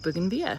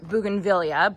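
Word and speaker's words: bougainvillea: And so, that's why I decided to go with buganvilla. So, now bugan villa or buganvillia, both both are good, both are acceptable, both pronunciations.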